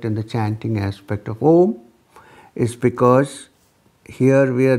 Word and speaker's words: Om: One starts with A, goes slowly into U, and then ends with Ma. The second starts with A and U together, becoming O. And lot of stress is laid on the last syllable, Ma.